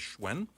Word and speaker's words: Hsuen: Facebook friend at HS uen is how you pronounce or spell my last name and pronounce it as schwen or you can go